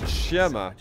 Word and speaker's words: Siema: Say it like this, Siema.